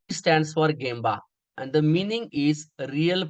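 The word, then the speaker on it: 現場: Some people are saying that Gmbba is correct but pronunciation is gamba that is sure.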